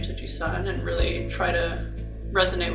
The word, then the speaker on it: Gisun: Hey, my name's Gisun. It's my Korean name, pronounced Sun with a G in front of it, and I've been writing music for the past 10 plus years.